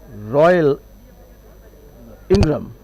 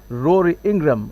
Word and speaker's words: Rory Ingram: would have had uh Royal Ingram royal royal Ingram I I got that name wrong again Rory Ingram I've been corrected by